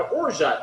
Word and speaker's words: orgeat: O-R-G-E-A-T, orgeat. Some people pronounce it orge. I don't think that's right, though.